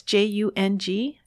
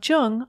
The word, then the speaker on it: Jung: alexa play speaking of jung on apple podcasts just be sure to pronounce jung with a hard j links to amazon's new